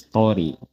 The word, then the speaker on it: とおり: Now you might be asking why sometimes it's pronounced as tori and sometimes dori. When you're using the no particle after a noun, it is tori.